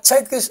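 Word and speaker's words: Zeitgeist: reserva Federal hay un documental que se llama chites adendum eh chites eh es el espíritu del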